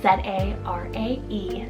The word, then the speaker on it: Zarae: I have Zarae, spelled Z-A-R-A-E, Zarae. Now this is a much more softer sounding Z name. I really love that ending, Ray, Zarae.